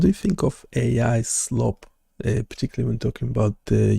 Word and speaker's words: slop: So, slope. S L O P. Ah, slop.